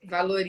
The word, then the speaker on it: Valory: E hoje eu recebo você, Valori, Valori ou Valori que Valori, pronuncia? valori.